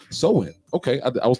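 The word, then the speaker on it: Samhain: that to me that's Sam Hayne right but it's pronounced like a woman's weave so in okay I mean it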